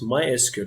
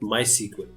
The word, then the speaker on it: MySQL: open source database and this is officially pronounced my askew not my sequin and it handles a